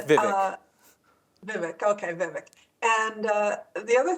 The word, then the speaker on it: Vivek: We're just hearing that Vivek Ramaswamy, the head of the Department of Efficiency, has just resigned, leaving Elon Musk in charge.